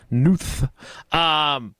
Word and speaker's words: Knuth: The K's not silent unless it is, and I've been pronouncing her name wrong for as long as her son and our daughter have gone to school together. Yama. Knuth.